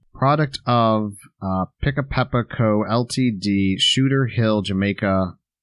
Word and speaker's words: Pickapeppa: i c k a p e p yeah pick a peppa uh yeah it's a jamaican well let's see here it says product of uh pick a peppa co ltd shooter hill jamaica wr west indies